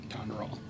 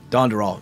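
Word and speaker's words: Dandarahl: Well, no, I believe that's how you pronounce it. Boop, boop, boop, boop, boop, boop, boom. D-A-N-D-A-R-A-H-L? Dondoral. Dondoral, yeah.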